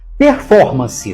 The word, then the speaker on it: performance: cuidado com o seguinte performance tem quatro sílabas e a mais forte é for performance então a palavra é proparoxítona só que ela não